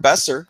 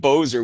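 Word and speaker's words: Boeser: Because the first time I called him Bozer, which I liked a lot better. Bozer, that rhymes with dozer, and that sounds destructive.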